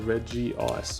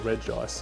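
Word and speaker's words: Regice: energy lotto and a Reggie ice or reg ice however you want to pronounce it all right we're pretty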